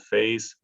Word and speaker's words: FASE: We also have some, it's called phase, spelled with an F, phase funds, that we're mandated to spend at least 15% of our funding with some categories of universities.